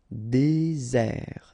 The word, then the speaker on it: désert: Désert, okay, remember, final T not pronounced, désert. And really this Z sound just because you get one S between the two vowels, okay?